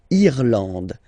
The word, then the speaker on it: Irlande: Remember, this is E, and it should be pronounced like E. Irlande. Irlande. Okay. A-N, en, D, and final E, not pronounced.